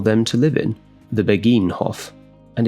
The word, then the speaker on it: Begijnhof: towards the Begijnhof, or perhaps it's pronounced, I'm going to attempt some Dutch here, Begijnhof. I'm not sure if that soft G sound, which you definitely hear in Netherlands Dutch, is also shared in Belgian Flemish.